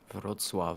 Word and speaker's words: Wrocław: Well, sorry, how do you pronounce that city? Wrocław.